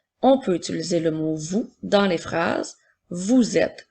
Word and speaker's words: vous: le mot vous alors nous avons le son qui s'écrit avec la lettre V et comme dans le mot nous avons encore le son ou avec trois lettres qui s'écrit o u s encore une fois la lettre S est une lettre muette on peut utiliser le